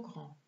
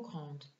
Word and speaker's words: grand: Ihr bemerkt, dass man grand und petit mit einem E schreibt, wenn das Nomen weiblich ist. Die Aussprache ist auch etwas anders. Ich lese noch einmal vor. Le pull est trop grand. La chemise est trop grande. Le pull est trop petit. La chemise est trop petite. Hier werden das D und das T nicht ausgesprochen.